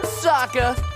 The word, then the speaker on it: Sokka: That's right, I'm Sokka. It's pronounced with an aka. Young ladies, I rocked ya.